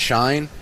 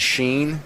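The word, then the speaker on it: Shein: guy was calling it Shine. Uh Miss Parker calls it Sheen. And so I'm going to Hi, Miss Parker. Since she she is a international linguistics expert, I'm going to go with her pronunciation.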